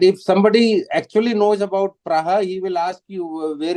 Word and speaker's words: Praha: Oh, you are actually it is pronounced as Praha. Okay, sir. Sorry, It is I did not know pronounced that. as Praha.